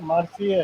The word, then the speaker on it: Marseille: इसका Marseilles, spelling वैसा है, मार्सिये है, Marseilles, France, फ्रांस.